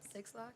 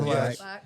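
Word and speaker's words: Blxst: I feel like I'm saying this name wrong, but Six Lack. How do you actually say it? Oh, Black. Black.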